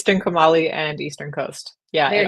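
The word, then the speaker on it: Trincomalee: And then you've got Trinkuma. And I'm gonna let you've got to pronounce that. Hana. What? Say that. You're so much better with language than I am. It's Trinkumali and Eastern Coast.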